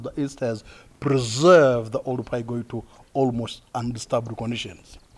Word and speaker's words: Oldupai: So the gorge was mispronounced Olduvai by the first German man named Professor William Kurt-Winkel. Must be Wazungu, I huh? tell you, the German man, can you imagine? Can't pronounce things properly. Could not really call it Oldupai.